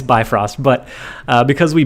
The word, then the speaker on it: Bifrost: destroy their sunspot uh yeah it's uh it's bifrost but because we butchered it in case anyone's new we butchered